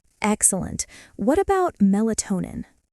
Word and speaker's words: melatonin: What about melatonin? Mel-a-to-nin. The stress falls on toe, melatonin.